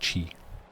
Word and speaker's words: qi: It's pronounced chi.